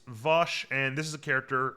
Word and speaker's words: Vash: right uh vosh uh Vash would be if it's Trigon Bosch is how they say it here uh so it's it's it's it's it's vosh and this is a